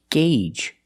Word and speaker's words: gauge: It's pronounced gauge. That's right, the AU makes a long A sound. Gauge. The long A like in day, and say and pay. Gauge. The first G is a hard g g sound, followed by